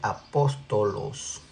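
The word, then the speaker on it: ἀπόστολος: La palabra correcta en griego se dice apóstolos.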